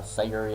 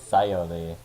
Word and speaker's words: Sayori: Last time, I believe when we left off, we were kind of in the Sayuri act. Or, I've been saying her name wrong. It's Sayori.